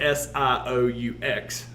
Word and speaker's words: Sioux: the country uh mainly the sioux indians which is spelled s-i-o-u-x all right even though it's pronounced sioux uh